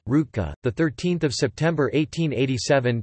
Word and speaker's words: Ružička: Leopold Ružička, Croatian pronunciation, Rutka, the 13th of September 1887 to the 26th